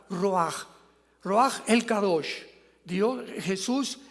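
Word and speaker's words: רוח: La palabra para espíritu en el hebreo es la palabra que es ruaj, que se escribe rua con ch, pero repito, ese pronuncio pronuncia como J. Roaj.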